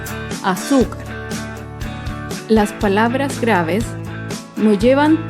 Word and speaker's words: azúcar: penúltima sílaba por ejemplo la palabra azúcar azúcar es una palabra grave y se acentúa en la penúltima fila azúcar las palabras graves no